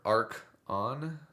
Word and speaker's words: Archon: Um not to be mean about it but the pronunciation of Archon is like uh Orkin with an A. How you would say is more ark on.